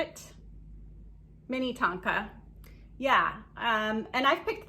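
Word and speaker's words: Minnetonka: mini tonka is that how you say it mini tonka yeah um and i've picked these up before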